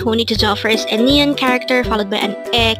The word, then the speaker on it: 아내: first syllable is a second syllable is n pronounce it with me Ane Ane what is the meaning of the word Ane this is the Korean term for wife again